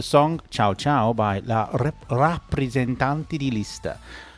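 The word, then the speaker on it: Rappresentante: My favourite was the song Ciao Ciao by La Rappresentanti di Lista. I always want to say represent because in English, but in Italian it's ra, not re.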